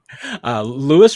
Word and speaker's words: Louis: Jared Wiley, and then is it Luis or Lou Reese-Zammit? I don't know how he pronounces that. Louis Reese-Zammit. Yes, he made sure to tell us at his first press conference how to officially pronounce it. Since a lot of us were either calling him Louis or Louis, weren't quite sure.